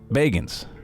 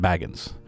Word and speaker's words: Bagans: I do stand corrected it's Zach Bagans not Baggins also keep in mind